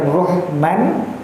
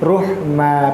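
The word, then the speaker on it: رُحْمًا: terletak di akhir ayat maka bukan rohman tapi ruh ma panjang dua harakat jadi dia tidak jadi fakataan tanwin tetapi hanya fathah biasa yang bacanya sebanyak satu sampai dua harakat ya.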